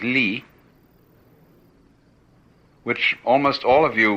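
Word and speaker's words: 理: is r r is a Chinese character pronounced by the Chinese Lee which almost all of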